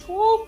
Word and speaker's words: Squall: Is it pronounced squall?